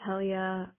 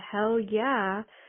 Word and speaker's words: Helia: years of life with people just thinking it's cute or funny to say hell yeah because it's spelled Helya.